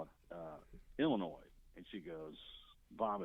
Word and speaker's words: Illinois: Can you possibly give us the correct pronunciation of the state that Chicago was in? And he goes, well, that's simple. That's Illinois.